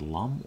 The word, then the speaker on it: Lum: how you pronounce this Lum or LOM I believe it's Lum Lum is the main